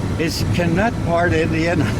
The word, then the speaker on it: Canutt: I'd like to see, how do you say, Canutt? Is that how? Yakima Canutt, yeah.